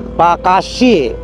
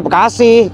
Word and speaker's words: Bekasi: Karena orang Belanda kolonial nyebutnya Bakasie. Bacasie. B A C A S S S I E bac. Tahu bacanya gimana tuh? Pakas. Leda Belanda beda sama lidah lidah Inggris. Kalau kita nyebutnya ya Bekasi itu gampang.